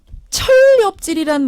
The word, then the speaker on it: 천렵질: 철렵질이란 말 원래 아셨어요? 저는 알고 있습니다. 철렵질. 강훈식 의원 아셨어요? 저 사실은 방송하기 전에 네. 성일정 의원께 여쭤봤습니다. 철렵질이 뭡니까? 이렇게. 여러분 아셨어요? 천렵질 합쳐서 이제 발음을 하면 철렵질이 되는데 저는 뭐 소설에서나